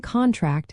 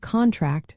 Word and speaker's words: contract: For example, the noun contract has the stress on the first syllable, while the verb contract stresses the second.